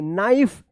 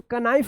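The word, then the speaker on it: knife: नाइफ इसको कनाइफ मत पढ़िएगा।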